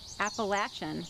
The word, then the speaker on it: Appalachian: Welcome to the Appalachian, or as the locals say, Appalachian Mountains.